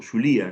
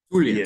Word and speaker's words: Zulia: Díaz allá en en Zulia o Zulía, no sé cómo se pronuncia. Zulia. Zulia. En el Zulia. Sí, Zulia.